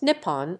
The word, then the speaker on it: Nippon: using the kanji Chinese letter letter and is pronounced Nippon or Neha before Chinese letter letter was adopted